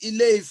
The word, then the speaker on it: Ile-Ife: In fact, it's not Ile-Ife, it's Ile-Ife.